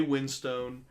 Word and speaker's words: Winstone: The basic idea of the movie is Ray Winstone Winston, I guess, is the proper pronunciation.